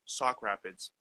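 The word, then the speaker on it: Sauk Rapids: Rapids Minnesota right Sock Rapids with a s Sock Rapids right South like North s Sock Rapids spell it s a u k r a p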